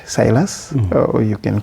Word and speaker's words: Silas: My names are what you rightly pronounced silas or you can call me one.